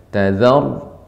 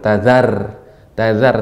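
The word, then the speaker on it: تَذَرْ: Jadi koreksinya, perhatikan huruf-huruf ra yang sukun apabila sebelumnya fathah maka dibaca dengan tebal. Tadzar. Ya. Caranya bibirnya agak naik sedikit, rahangnya pada posisinya, maka akan tebal dia. Jadi jangan diturunkan, jangan tazar tipis, tazar.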